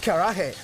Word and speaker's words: karaage: Karaage. Karaage. It's spelled kara-age, but it's pronounced karaage.